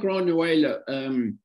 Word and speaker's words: Granuaile: Cry of Granuaile, I think, is it pronounced? I may have that wrong. Sounds like another rather intriguing documentary. Yeah, so Cry of Granuaile, not bad on the Irish there, Peter.